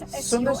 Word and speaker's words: Sundas: That's Sundas? S-U-N. Son, Sundas.